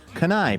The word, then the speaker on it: Kenai: Kenai, pronounced like the Hawaiian island of Lanai.